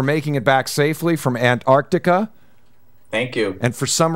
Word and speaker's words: Antarctica: We usually skip the first T, so just go Antarctica.